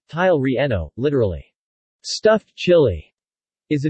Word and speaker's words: chile relleno: the chile relleno spanish pronunciation tile reno literally stuffed chili is a dish in Mexican